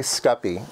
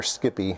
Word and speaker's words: SCPI: they gave me now it's basically scuppy or Skippy whichever way whichever way you like to pronounce it Skippy programming uh